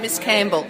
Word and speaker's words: Miscamble: and we've got Leandra Miscamble. Is that how you pronounce it? I do, Miss Campbell. Miss Campbell. Is it like that separate and pronounced? Miss Campbell. It's one long word.